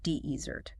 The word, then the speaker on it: desert: The stress falls on the first syllable, deezert.